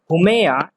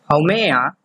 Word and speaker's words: Haumea: of other dwarf planets which are Ceres, Aries, Haumea, and Makemake. Please pay attention to their pronunciation. It's weird. It is Ceres, Aries, Haumea, and Makemake.